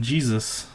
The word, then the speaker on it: GSUS: that's what these are and he calls them Jesus but not with a J it's gs us but it's it's pronounced Jesus and they're a replica of this